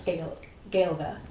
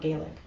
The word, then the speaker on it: Gaeilge: Anyway, and there are two Irish pronunciations in Irish Gaeilge. That's how I pronounce it. It's not Gaelic.